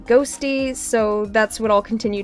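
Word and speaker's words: Qhosty: It's spelled Q-Hosty, but apparently it's pronounced Ghosty, so that's what I'll continue to refer to them as.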